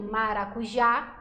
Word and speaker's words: maracujá: Como, por exemplo, maracujá, o já é mais forte.